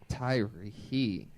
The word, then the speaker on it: Tyrhee: There's a silent H in there. Daddy issues. I'm working those out. I'm working There's a those out. silent what? A silent H in it. The H, you don't even pronounce the Right. H.